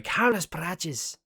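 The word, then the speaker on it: Carlos Prates: In the words of Ian Gary, Carlos Praches. Just have to pronounce it the way that the old Zillions do.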